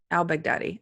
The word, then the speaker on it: al-Baghdadi: it again al-baghdadi al-baghdadi I want to say I'll Baghdad but that sounds racist and horrible cuz that Baghdad's just a city and it's just I'm adding a line' front of the city but it is al-baghdadi doesn't sound racist to